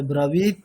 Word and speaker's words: ব্রবীৎ: যে ব্রবীত ত না ম্যাডাম, ওটা খন্দের ত, মানে ত হসন্ত, তাহলে ব্রবীত এইভাবে স্টপ হবে।